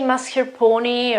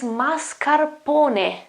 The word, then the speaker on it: mascarpone: final E, so this sound here, you say mascarpone or something. Well, the correct pronunciation is mascarpone, mascarpone, ne, mascarpone.